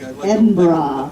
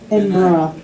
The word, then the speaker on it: Edinburgh: Yeah, It's not borough. No, everybody always goes borough and Edinburgh and and Loughborough and no, if you say it like bra, like Edinburgh. like a woman's bra, Edinburgh. and then just soften it. Edinburgh. Then it sounds like it.